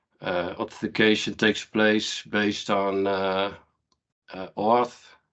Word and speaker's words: OAuth: Authentication takes place based on OAuth. How do you pronounce that? OAuth? OAuth.